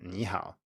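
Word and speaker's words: 你好: to remember is that if you have two third tones in a row the first will turn into a rising tone as in nihao you also need to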